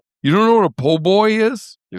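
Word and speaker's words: po' boy: You don't know what a poboy is? You're You're losing me. I It's like Oh, it's a sandwich. It's shorthand for poor boy, but it's pronounced poboy.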